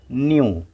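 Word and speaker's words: knew: जो अक्षर है उस पर ये शब्द का उच्चारण ख़त्म होगा। नाइफ, नाइफ, नाइफ। के एन ई डब्ल्यू न्यू, न्यू, के साइलेंस है, न्यू।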